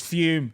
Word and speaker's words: Fum: It's Fume, spelled F-U-M, but pronounced like it's got an E on it.